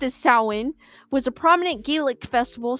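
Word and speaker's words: Samhain: ancient gelic Festival of sa sa produced produced pronounced as sa was a prominent gelic Festival celebrated by the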